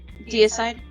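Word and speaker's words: Deicide: do you spell that deide yeah um as in dity but side as in d e i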